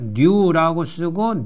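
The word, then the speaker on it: ν: 뉴라고 쓰고 뉴라고 읽어요. 그러니까 영어의 N에 해당되고 뮤는 영어의 m에 해당되고 뉴는 영어의 N에 해당된다.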